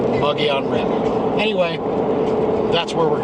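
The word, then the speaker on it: Mogollon: Mago on multiple of Malaga and cream it's pronounced the moji on red so that it looks nuts take some time getting used to it but so you know it's pronounced buggy on rent anyway that's where we're going we're going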